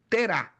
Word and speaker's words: Terá: Preste atenção lá, Naor e Arã, porque ele foi fruto de um homem chamado Terá, ó, ou tera, como alguns trazem na sua pronúncia.